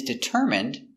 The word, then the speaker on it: determine: He is determined to learn English. Determine. D. I. D. T. Dit. Deter. Determ. Determ. I. Determine. Determine. Determine. Determine. Determine. Stress is on the third syllable.